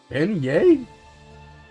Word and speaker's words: beignet: I legitimately don't know how to pronounce that word. Beignet?